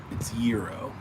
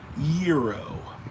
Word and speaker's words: gyro: Probably like gyro, like a weirdo too. Yeah, I do say gyro like a weirdo. I know it's gyro. Gyro. I get it.